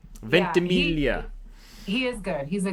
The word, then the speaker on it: Ventimiglia: Milo Ventimiglia. Ventimiglia.